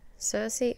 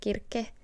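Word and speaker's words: Circe: our mythology section so cersei or how it should be pronounced kirke by marilyn mina the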